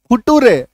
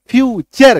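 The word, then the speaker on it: future: फ्यूचर नेचर है ना इसको कई लोग को मैंने सुना है कि एन ए टी यू आरई लोग क्या पढ़ते नेटुरे टूरे है ना इसका उच्चारण क्या करते हैं नेट रे फूटूरे ठीक है तो नेटुरे फूटूरे आपको नहीं कहना क्या कहना है नेचर फ्यूचर क्यों क्योंकि टी यू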